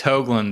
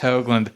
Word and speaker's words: Hoglund: And Hoglund, how are you doing? Hey, I'm going good, man. It's Hoglund, though. I'm just going to be straight. It's pronounced Hoglund.